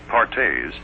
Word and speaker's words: Perthes: crippling disease known as Perthes pronounced pares was the demoralizing ailment